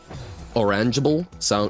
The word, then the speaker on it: orangeable: I know that the word orangeable rhymes with gullible.